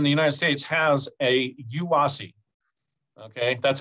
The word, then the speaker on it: UASI: metropolitan area in the united states has a yuasi okay that's how we say it that's that's how we pronounce it uh and then ours is bay